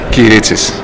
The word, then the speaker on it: Kyritsis: encontramos con el profesor Dimitrios Kyritsis, ¿así se pronuncia? Kyritsis.